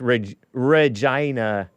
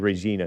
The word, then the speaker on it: Regina: This Regina is how it's pronounced. I would have said Regina.